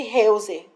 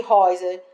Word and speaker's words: Heuser: E essas células aqui formam uma estrutura que a gente chama de membrana de Heuser, ou de Reuser, ou de Euser. A pronúncia não importa, tá?